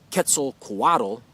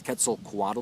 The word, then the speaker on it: Quetzalcoatl: i'm pretty sure to quetzalcoatl i know i don't pronounce that as an aztec probably would have or a mayan or or whatever the original language was quetzalcoatl the the ancient mexican